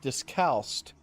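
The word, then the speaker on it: discalced: It's pronounced discalst and it means denoting or belonging to one of several strict order of Catholics, friars or nuns who go about barefoot.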